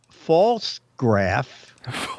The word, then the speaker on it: Pfaltzgraff: uh and then I I'll spell it p-f-a-l-t-z-g-r-a-f pronounced false graph is a very we last week well yes exactly exactly and Linda writes false graph is a very old established and well-known company 11.